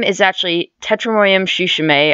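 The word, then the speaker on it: tsushimae: is actually tetra Miriam shushing a I just learned the T is silent and they are also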